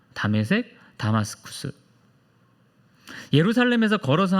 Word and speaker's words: 다메섹: 자, 이 다메섹이라고 하는 곳은 지금의 시리아의 수도 다마스쿠스의 히브리식 발음입니다. 다메섹, 다마스쿠스.